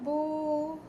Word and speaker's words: beaux: Les jardins sont beaux. Notice there's an x for plural, but the pronunciation is the same as this.